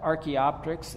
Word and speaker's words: Archaeopteryx: If you didn't know how to pronounce that, Archaeopteryx, and there's the most famous fossil of this bird with the kind of neck back.